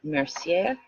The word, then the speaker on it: Mercier: Body's Energy for Health and Harmony by Patricia Mercier. M E R C I E R, which is why I pronounce it with a in more French.